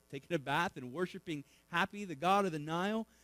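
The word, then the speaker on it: Hapi: Nile was a god named happy h ap I not not like we would spell it but happy was the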